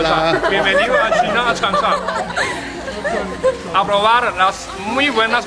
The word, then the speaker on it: Changsha: Changsha. Sunshine. No, Changsha. Changsha. C-H. C-H. Changsha. Changsha. Changsha. They spell it Changsha with C-H. But we would be probably S-H.